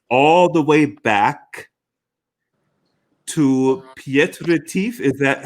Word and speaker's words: Piet Retief: take our audience all the way back to pietrez is that how i pronounce it yes south africa tell us about